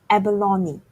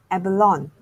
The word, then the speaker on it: abalone: This is called abalone, often mispronounced as abalone. Unlike many other English words, the E is not silent.